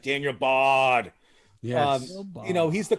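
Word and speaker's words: Bard: for closers is ridiculous we didn't say daniel bart he's available he's under 60 daniel i'll say it right daniel bodd yes you know he's the closer in colorado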